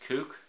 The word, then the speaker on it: Kuk: that he has and I think it's pronounced kook because it's K UK and it's a kukri